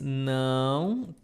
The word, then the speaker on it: não: Não tem pão. So, repeat. Não, and pay attention my nose. Não tem pão. Não tem pão.